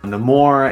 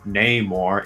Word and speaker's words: Namor: I found out that it was not in the film Namor, it was Namor, or at least that's how he's going to pronounce it.